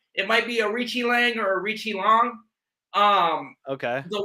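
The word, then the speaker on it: Aoriqileng: versus Arichi Lang. Arichi Lang. Okay, that makes sense. Yep. And it's a lot easier than what I was saying. It might be Arichi Lang or Arichi Long.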